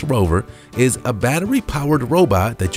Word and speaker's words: RVR: your house the rover spelled rvr but pronounced rover is a battery-powered robot